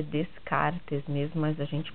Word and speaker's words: Descartes: O nome dele é Descartes mesmo, mas a gente pronuncia Descartes, tá?